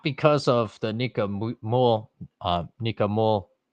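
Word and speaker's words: Mühl: What has the U umlaut? I always say Müll, but that's the German speaking in me. So I struggle to say words that in my head should be pronounced a certain way.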